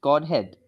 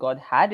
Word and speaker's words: godhead: the word you used godhead uh did you use h e a yes okay okay I I think you said God had it would be godhead godhead can you pronounce